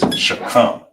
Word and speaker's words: shakam: And how you pronounce it is shakam. Shakam. And here's a breakdown. You got the sh right here, single connector, so it's by itself. Then you got the ka and the ma. And in this one, they are connected. So you'll pronounce that as come. So all together will be shakam.